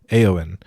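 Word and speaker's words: Éowyn: Rohan King also, Theoden, remembers, is it pronounced Eowyn? Eowyn.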